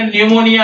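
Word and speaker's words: pneumonia: board cupboard cupboard है और ये न्यूमोनिया न्यू पी के बाद य न्यूमोनिया है ये साइकोलॉजी है पी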